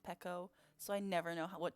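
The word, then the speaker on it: Pekoe: have um pico pekko i think it's meant i looked it up before and i think like the very first thing that comes up is pico but then if you look into like actual animal crossing they've said that it's meant to be pronounced pekko so i never know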